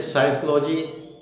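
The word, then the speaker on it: psychology: Roll number 4 में हमने आपको बताया था कि पी के बाद यदि एस आए, जैसे साइकोलॉजी और सूडोलॉजिस्ट, तो उसमें पी साइलेंट रहता है, पी का उच्चारण नहीं होता।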